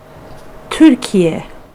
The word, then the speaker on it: Türkiye: Türkiye. Yep, so that is a native Turkish speaker there, so that's going to be a lot closer to, or should be correct to, the proper Turkish pronunciation of Turkey.